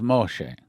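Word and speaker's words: משה: of the water moshe we say moses but the correct israeli pronunciation i learned that when i was in israel is moshe so let me say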